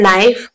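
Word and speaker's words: knife: यहाँ पर लिखा है नाइफ, के साइलेंट है, के को मैंने बिल्कुल भी प्रोनाउंसिएशन में नहीं लेकर आई हूं, तो के यहाँ पर आएगा।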